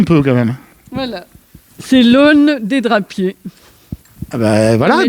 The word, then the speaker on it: aune: C'est l'aune des drapiers.